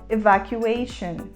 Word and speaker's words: evacuation: o substantivo evacuação e a gente fala evacuation evacuation começando com o som mais próximo do e fechado e uma da palavra